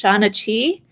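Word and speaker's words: seanchaí: They call themselves, I believe it's pronounced Shanachi.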